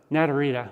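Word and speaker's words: Naturita: Pronounce it. Natarita.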